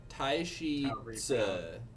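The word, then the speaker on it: Taishi Ci: Taishi Tse is how I heard it pronounced by the YouTuber who speaks Mandarin that I watch.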